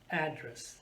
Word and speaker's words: address: at the second example address address to syllable and i'm putting stress on which syllable the first one address like what's your address oh my address oh okay address a place where you live now in the same